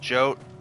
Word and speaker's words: Yote: Yote mentioned blood-red petals. It's pronounced Jote.